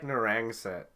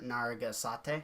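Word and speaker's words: Narragansett: It's like Narangset is the pronunciation. I like mine better. Naragasate.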